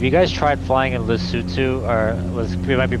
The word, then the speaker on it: Lesotho: Actually, if you guys tried flying in Lesotho, or it might be pronounced Lesotho, but Matakani airstrip is like Oh one of the yeah.